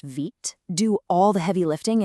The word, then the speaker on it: Vite: Tools like Vite, which by the way is pronounced Vite, do all the heavy lifting and complicated setup stuff for you.